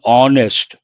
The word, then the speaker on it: honest: You have to pronounce that as honest. H is silent, and there we have to say an honest person.